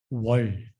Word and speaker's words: 월: Next one, month, how you can speak out with 월.